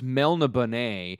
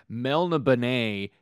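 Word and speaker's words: Melniboné: the note that you gave me it says pronounced Melanie Bonet and I have never heard it pronounced that way ever by anyone and I apologize to mr. Moorcock for mispronouncing melena Bonet for goddamned 30 years so I apologize that's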